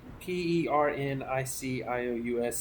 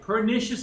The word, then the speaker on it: pernicious: to explain uh how do you say it p e r n i c i o u s anemia okay pernicious anemia pernicious anemia now I know the word